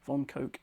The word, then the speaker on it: von Koch: This is the famous von Koch snowflake, or von Koch, or Koch as it's sometimes pronounced, I believe, but I believe von Koch is the correct pronunciation, so we're going to go with that.